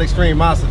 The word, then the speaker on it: Extremosity: Yeah, but it's called Extremosity, though. Okay. That's how you pronounce it.